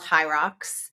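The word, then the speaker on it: HYROX: Fitness competitions uh so we compete they're called high rocks and my kids and kids of my friends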